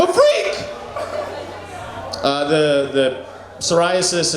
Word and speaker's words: psoriasis: Uh the the psoriasis, it's spelled it starts with a P. It starts with the letter P. The P is silent.